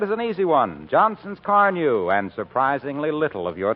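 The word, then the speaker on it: Car-Nu: Try Johnson's Car New, won't you? It's spelled C-A-R-N-U.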